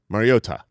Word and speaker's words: Mariota: Because I'm sorry, Mariota. There you go. Yeah. Mariotto. You were. We now have like 3. I know.